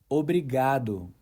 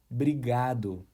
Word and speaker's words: obrigado: The correct pronunciation is obrigado.